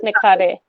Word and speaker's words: Nikhare: So the last name is pronounced as Nikhare.